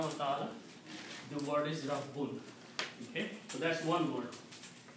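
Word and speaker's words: رَبٌّ: And if we combine these three letters in this format, then we put a shadda on the second one and a fatha on the first one. This word is pronounced as Rabbun.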